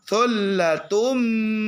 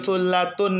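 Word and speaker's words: ثلة: Thullatum minal awwalin. Bukan thullatun minal awwalin, tapi thullatum minal awwalin.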